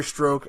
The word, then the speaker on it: Strzok: surrounding this agent Peter Strzok, and which his name is not spelled like that. I don't know why it's pronounced that way.